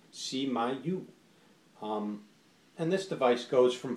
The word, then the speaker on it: SMY: It's pronounced SMY.